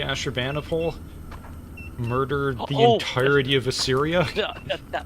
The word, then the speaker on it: Ashurbanipal: Uh we've got Asher Banipole.